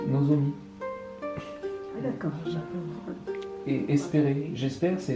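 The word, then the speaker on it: 望: Cet idéogramme bo, quand il est seul, ça se dit nozomi.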